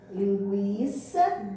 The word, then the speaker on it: linguiça: Vejamos aqui que nós temos bem aqui o exemplo da palavra linguiça, gui. Observa aí, da palavra linguiça e da palavra guaraná. O U, ele é pronunciado.